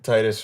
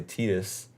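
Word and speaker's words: Tidus: yeah it's it's like Titus from Final Fantasy 10 in the in in game not intend because they don't say his name in timber and other games they say tedious yeah so I always thought it was but but I said Titus notated see what I'm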